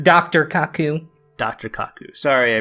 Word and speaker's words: Kaku: koch dr Kaku dr Kaku sorry i pronounced mispronounces name yes but I himself he